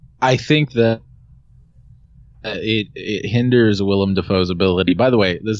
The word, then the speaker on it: Willem Dafoe: It is Willem. It is, and it's pronounced that way. It's W-I-L-L-E-M. Okay. Willem Dafoe, not William Dafoe.